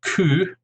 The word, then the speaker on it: coup: language, and in fact we tend to even pronounce them very similarly to the original French. For example, the word coup, or coup d'état, the